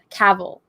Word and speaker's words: Cavill: like no it's henry cavill and he did a google thing where he answers questions from google and he's just like there with this selfie camera and he's just like it's cavil like travel okay yeah there was